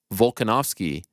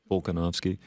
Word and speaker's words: Volkanovski: The name Volkanovski has a very pronounceable L right there. You have no problem nailing when you say his full name. But when you refer to him by his pet name, you lose the L faster than Dean Thomas backstage after the Sarah fight.